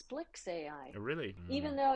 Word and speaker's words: SPLX AI: I asked Yeah I asked someone how to pronounce I think it's Splicks AI really even though it's SPLX. SPLX. Okay, but it's Splicks AI.